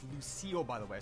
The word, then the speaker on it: Lucille: so it's always a Shaq's Mom this is pronounced Lucille by the way I said Lucy in the intro anyways anyways mac and cheese